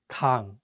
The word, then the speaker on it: 강: Another example is the word 강, which means river. Please note that in this case, the ieung is at the end, so the word 강 ends with an ng sound.